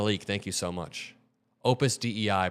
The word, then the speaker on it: Opus Dei: thank you so much Opus Dei pronounced day is a Catholic cult